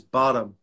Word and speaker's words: Bottum: say your surname uh my surname is bottom it's like ah bottom yeah yeah the pronunciation is bottom all right that's right